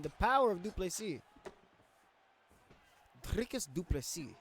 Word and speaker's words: Dricus du Plessis: Dricus du Plessis, that's how you say it. According to my South African buddy, not Dino Gamer, who's #1 on the leaderboards.